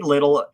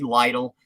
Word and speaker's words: Lytle: changed to the annie little i i hope i'm saying that right it might be lytle um it's spelled l-y-t-l-e um it was later